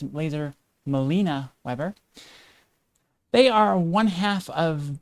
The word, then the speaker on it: Laser Malena-Webber: That is our guest tonight, Laser Melena-Webber. Very excited to have them on the show tonight. Actually, I think I mispronounced that. It's Laser Melena-Webber.